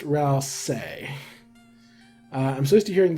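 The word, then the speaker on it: Ralsei: Ral say or Rai I believe it's pronounced Ral say uh I'm supposed to hearing the latter but the spelling just seems off-putting help me out here I'm pretty sure toas confirmed that's pronounced Ral say but yeah so I'm pretty sure that's the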